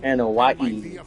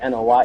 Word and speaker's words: Anoa'i: And for me, none of that compares to the relationship I've built with the Anoa'i, Fatu, Anoa'i. That's how you pronounce it. I always forget how to pronounce it. Anoa'i.